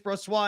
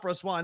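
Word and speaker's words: Brossoit: chat and everyone said everyone's telling me it's bro soy and that it's not pro Swan I'm gonna be pissed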